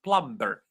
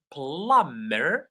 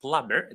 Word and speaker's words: plumber: Because a lot of people would pronounce it plumber. No, it's pronounced plumber. Plumber. The B is silent.